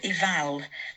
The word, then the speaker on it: eval: So, it's called eval, but it's just a matter of pronunciation. And it's from the word medieval, which is spelled like this in English, but sometimes that a is not included.